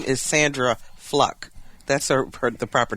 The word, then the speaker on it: Fluke: Fluck, which is the proper pronunciation of her last name. Fluck, not Fluke.